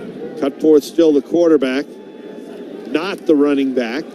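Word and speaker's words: Knothe: The name is K N O T H E. That's how it's spelled.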